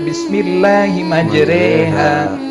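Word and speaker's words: بسم الله مجراها: monyongkan mulut ya, atau tulisannya bismillahimajroha ya, tapi bacanya bismillahimajreha.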